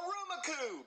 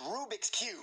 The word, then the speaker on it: Rubik's Cube: No, a Rumacube! Jeffy, it's pronounced Rubik's Cube!